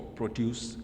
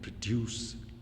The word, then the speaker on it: produce: So also for produce and produce, the first syllable is stressed for noun, the second for the verb.